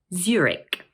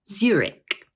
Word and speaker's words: Zurich: This word is also made up of two syllables, and the first one is stressed.